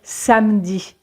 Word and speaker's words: samedi: Par exemple, dans le mot samedi, en général, on va dire samedi.